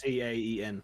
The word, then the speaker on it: Caen: Caen.